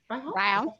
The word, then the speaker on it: Ryhal: I want to introduce, is it pronounced Ryhal, right? Ryhal.